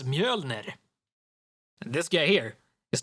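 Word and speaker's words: Mjölnir: not thor it's his hammer isn't named mjolnir it's mjolnir this guy here is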